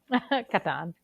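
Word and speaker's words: Catan: at it see so Camila how do you pronounce CLA toyer classic the settlers of Katan Katan okay good well I figured being Italian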